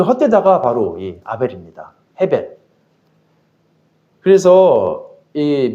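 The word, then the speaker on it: הבל: 이제 이스라엘 발음으로는 헤벨인데 그니까 전도서에 보면 이거 있죠. 헛되고 헛되니 모든 것이 헛되다. 그거 그때 그 헛되다가 바로이 아벨입니다. 헤벨.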